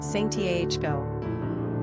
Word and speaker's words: Santiago: Pronunciation, Santiago.